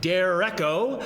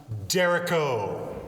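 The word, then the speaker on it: derecho: this storm called a dereko is on its way fast excuse me dude i'm sorry but i think that's pronounced dereko oh uh this dereko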